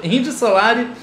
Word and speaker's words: Indio Solari: a reação do Indy Solari, e dessa vez pronunciando o nome dele correto, Indy Solari, a gente teve muitos pedidos, então a gente